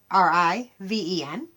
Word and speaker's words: Scriven: This is another that was wrote in 1855 by a Joseph Scriven, I think is how you pronounce it. It's Scriven.